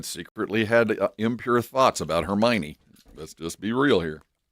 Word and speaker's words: Hermione: The funny thing is, we didn't know how to say that word until the movie came out. I had never seen or heard of that name, Hermione, and it's spelled like Hermoine. So we were reading to our kids like we didn't say it right. And then the movie came out, and I think the whole theater went, "Oh, Hermione."